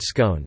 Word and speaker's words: scone: There are two possible pronunciations of the word scone, the first rhymes with gone and the second rhymes with tone.